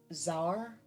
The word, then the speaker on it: Sauerkraut: Like it has like uh like uh the sauerkraut there or um it's not sauerkraut. It is not sauerkraut. is zar. Zar, I thought S was with a Z.